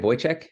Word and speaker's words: Wojciech: um, am I saying it right? Wojciech? Is that Yes, that's can you, perfect. okay. Um, uh, Perfect for an English speaking person. Like if you were Polish, you'd say it differently, but I'm not trying